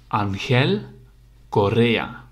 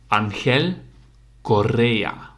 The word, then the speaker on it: Ángel Correa: about that pronunciation but it's Korea so you make the r rolling R of course Angel Di Maria Angel Correa okay guys see you in the next video and one more time Angel Correa